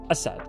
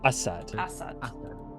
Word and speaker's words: Asad: So Assad Assad Assad. Assad. Assad. Assad. Assad. Assad. All right. Assad. Sure. Assad. Assad. All right. Basically how you've been saying it, but just emphasize the first syllable.